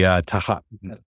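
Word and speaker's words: תחת: And pronunciation is on the first one. Yeah. So but it'd be tahat. It's more Tahat.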